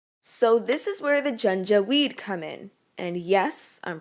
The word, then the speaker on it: Janjaweed: so many people so this is where the gen jaweed come in and yes i'm pronouncing it right the junta we'd were basically